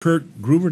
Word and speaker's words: Kurt Gruver: Kurt Gruver, did I pronounce that right?